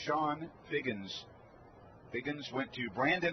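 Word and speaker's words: Chone: fastball up and in sean is spelt c-h-o-n-e but it's pronounced shawn figgins piggins went to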